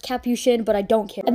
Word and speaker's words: Capuchin: this is Capuchin I know I'm saying it wrong and it's pronounced Capuchin but I don't care